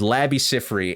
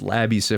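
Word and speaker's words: Labi Siffre: i FF r e i could be pronouncing his name completely wrong and I apologize I'm pretty sure it's Labby Cy though everybody knows him from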